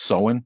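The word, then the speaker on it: Samhain: should know more about that um thank you so in it's actually pronounced so in or sound thanks for that mad hatter my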